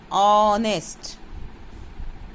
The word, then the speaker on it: honest: Tell them again, this H is silent. Now repeat the word honest.